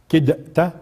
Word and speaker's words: كدت: طيب ولولا أن ثبتناك لقد كدت، كدت، كدت، هي هيك تلفظ، يعني تدغم التاء بالدال الساكنة، مش هيك؟